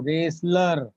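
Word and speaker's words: wrestler: रेसलर कहते हैं दोस्तों पहलवान को, रेसलर। देखिए इसमें टी साइलेंट है।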